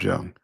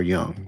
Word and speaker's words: Jung: Carl Jung. Oh, I'm sorry, Carl Jung. That's how it's pronounced.